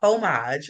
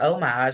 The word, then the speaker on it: homage: She was paying a homage or homage, however you want to pronounce it, and she was a product of her environment.